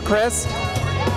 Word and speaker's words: Christ: Are you related to Governor Christ of Florida? It's spelled different. Mine's C-H-R-I-S-T. I'm related to the other one. Which one is that? Jesus. But you pronounce it differently. Actually, we pronounce it Christ.